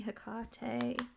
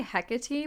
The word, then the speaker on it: Hecate: I used to say Hecate, but I've heard a lot of people say Hecate, who, like, they sound like they know what they're doing. So I'm like, okay, I think that's how you say it.